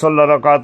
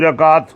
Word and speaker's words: রাকাত: ফজরের নামাজের আগের দুই রাকাত অনেকে বলে রেকাত তার রেকাত এটা আমাদের দেশী উচ্চারণ রাকাতর আকার বয়স রয় আকার দিবেন রাকাত শুদ্ধ করে বলবার চেষ্টা করুন সুবহানাল্লাহ জিনিসগুলো তো বুঝে